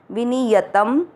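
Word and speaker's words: विनियतम्: य में वापस अमिक्स करना, विनियत, शब्द पूरा होने के बाद त पे अनुस्वार आधा म, विनियतम।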